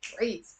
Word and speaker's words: وعيت: Okay, so rather than pausing after أنا and then saying وعيت, you can say أنا, pronouncing the w with it.